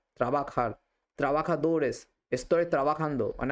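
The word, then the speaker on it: trabajar: যে এই যেটা কিন্তু স্পেনে যদি উচ্চারিত হয় তখন কিন্তু ক্ষয়ের মত উচ্চারণ হয় তখন আপনারা বলবেন ত্রাবাখার ত্রাবাখার ত্রাবাখা দৌরেস স্তরে ত্রাবাখান্দ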